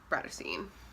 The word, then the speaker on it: Bratterstein: My name is and my channel name is pronounced Birthstone.